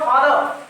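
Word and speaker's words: father: देखिए इसको आप लोग क्या पढ़ते हैं, फादर, एकदम रॉ पे क्या कर देते हैं, जोड़ देते नहीं, इसका उच्चारण सही क्या हो जाएगा, फादर। क्या हो जाएगा, फादर। यानी इस आर पे क्या करना, आपको जोड़ने देना, क्या बोला है, फादर।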